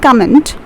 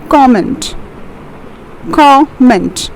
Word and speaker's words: comment: daily lives is comment it's not comment it's comment mint we have two syllables over here cor and mint so it's comment the fourth one over